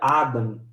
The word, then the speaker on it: Adam: simples o nome Adão ele vem do hebraico que se pronuncia Adam e o nome Adam